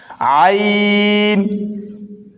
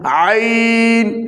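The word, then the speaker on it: عين: অর্থাৎ জিহ্বার আগা সামনের উপরের দাঁতের আগার সঙ্গে লাগাইয়া আইন হলকের মধ্যখান হইতে ভিতর থেকে আসবে হলকের মধ্যখান আইন আইন তারপর হলকের শেষ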